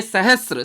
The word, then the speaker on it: सहस्र: शब्द है सहस्र, उच्चारण करिए सहस्र।